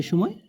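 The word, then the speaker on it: ث: আমরা যখন সা হরফটা উচ্চারণ করব তখন কি হবে? আমাদের জিহ্বার আগাটা সামনের যে উপরের দুই দাঁত আছে এই দুই দাঁতের আকার সঙ্গে লেগে যাবে পাতলা করে সা এরকম ভাবে তারপরে জিম সার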